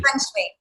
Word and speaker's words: Feng Shui: how do you say it? Feng Shui or Feng Shui? Feng Shui. Yeah, Say it again. I'm saying it with a very American accent, right? Feng Shui. Feng Not Shui.